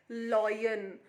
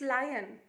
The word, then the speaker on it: lion: lion lion and lioness many children pronounce it like loin no that is a wrong pronunciation it's lion lion lioness okay lion